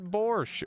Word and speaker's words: borscht: It turns out the T is because the word came to English through Yiddish, aka Jewish German, and it's spelled weird like that.